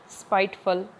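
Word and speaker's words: spiteful: है ना बहुत सारे, मतलब FUL की जो प्रोनाउंसिएशन होती है वो फल होती है, क्या होती है, फल, ब्यूटीफुल, स्पाइटफुल। और हम इनको देखते हैं बहुत बार फुल ही पढ़ा जाता है क्योंकि अपनी आदत होती है, जैसे हिंदी बोलते हैं उसी तरह से स्पेलिंग को देख के उसका उच्चारण करने की, लेकिन जो करेक्ट प्रोनाउंसिएशन होगी वो फल होगी, फुल नहीं, फल, स्पाइटफुल, ब्यूटीफुल, इस तरह से, स्पाइटफुल।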